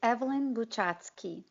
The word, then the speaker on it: Eveline Buchatskiy: yourself so that I don't mess up the pronunciation on your name sure it's Evelyn do chatzky managing partner at one-way ventures a seed tech